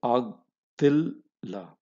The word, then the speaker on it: ಆಗ್ತಿಲ್ಲ: about all the kumbu, take the base letter, which is Ga, pronounce it with half matra because there is a baby letter here. So, Ag, that's your first part of your pronunciation. Then, Ta, baby letter, this is a baby letter for Ta, and add the kumbu to Ta, right? So, Ag, Til, La, that's the pronunciation.